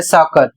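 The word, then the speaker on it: soccer: पहला शब्द एस O double C ई आर और इसे पढ़ा जा रहा है साकर।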